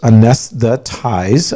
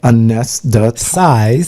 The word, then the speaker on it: anesthetize: verb it is uh has four syllables a nest the ties right a nest the size right a nest that size ties ties or sizes ties like neckties yeah but t-i-z-e okay so the the